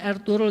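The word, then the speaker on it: Ertuğrul: nabi tokoh Palestina kemudian ertugrul Gazi bacanya air turun Gazi karena ayahnya Usman gaji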